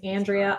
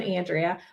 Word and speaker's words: Andrea: name in the world it has three pronunciations Andrea Andrea and Andrea um so it can always be wrong uh but I'm an Andrea but I had a great